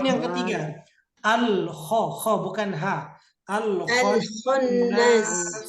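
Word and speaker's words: الخناس: Jadi dibacanya harus waswasi. Potongan yang ketiga. Al-kho bukan ha. Al-khonnas.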